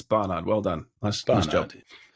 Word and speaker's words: Barnard: Um, everyone says Bernard. Bernard. It's Barard.